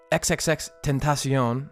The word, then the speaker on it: XXXTentacion: question before i break this part down um xxx tentacion i learned that as the correct pronunciation after we were uh lambasted in dion's